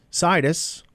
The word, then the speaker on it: Sidis: pushed them too hard situs the name rhymes with Midas was born a century